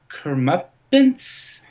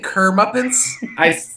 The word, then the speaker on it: comeuppance: they can get their comeuppance. Sure. Did you say Kermuppins? I was comeuppance. Is that how you say it? Comeuppance. Yeah, Yeah, Comeuppance. yeah.